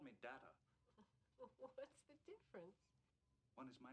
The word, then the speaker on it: Data: tune is heard during dad is it is pronounced data oh you called me data what is my name the other is not